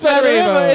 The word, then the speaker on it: Smederevo: Smederevo. Wait, what? Smederevo. Yeah, It's Smederevo. It is. Yeah. That's Serbian for smegma. Smederevo.